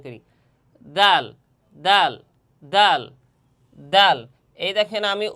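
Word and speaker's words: د: জিহ্বার আগা সামনের উপরের দুই দাঁতের গোড়া এবং সামান্য তালুর সঙ্গে লাগাইয়া দাল। দাল উচ্চারণ হবে।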